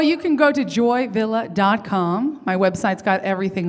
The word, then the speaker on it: Villa: joy Villa calm has got everything joy Philip VI L LA and it's pronounced Villa now I read that when I